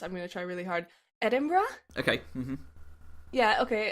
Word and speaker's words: Edinburgh: gonna try really hard Edinburgh okay mm-hmm yeah okay apparently it's very American to say Edinboro yes it is that was